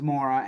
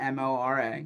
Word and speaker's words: Mora: And Andrew, if you want to follow him online, his last name's Mora, Mora.